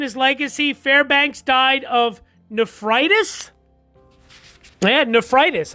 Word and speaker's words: nephritis: And then his death and his legacy, Fairbanks died of nephritis. Yeah, nephritis. I just looked it up to see if I pronounced it right. Yeah, nephritis. He died at his home on June 4th of 1918 at the age of 66.